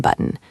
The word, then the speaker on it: button: We don't usually pronounce the T strongly in button.